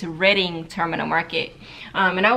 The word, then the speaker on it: Reading: wanted to go to Reading Terminal Market I was saying it wrong this entire time y'all I really thought it was Reading Terminal Market but it's Reading Terminal Market um and